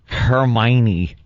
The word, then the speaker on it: Hermione: I like Hermione cuz it sounds like Heiny.